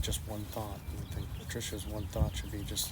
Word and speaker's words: Patricia: Say Patricia, not Patricia like we do here in the States.